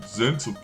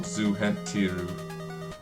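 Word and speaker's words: Zhentil: Oh, that boy's gonna make good price and Zentil keep. It's like, I like here, they call it Zuhentiru. It's like, I'm pretty sure it's pronounced Zentil.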